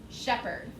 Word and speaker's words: shepherd: one is the word shepherd shepherd s-h-e-p-h-e-r-d shepherd so that h is silent but it is there and we know normally